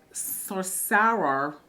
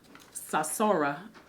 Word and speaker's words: Sasora: Sorcerer, Sora, it's not sorcerer, that's not how it's spelled. Sasora says, Dear Wendy, I really need your help.